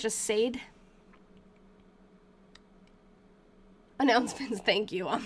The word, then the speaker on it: Sade: Sade is the singer's pronunciation, I think. Okay, cool. Sade.